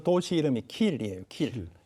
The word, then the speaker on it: Kiel: 킬. 예, 도시 이름이 킬이라는 도시. KILL이요? 그럴 이 리가 발음은 있을까요?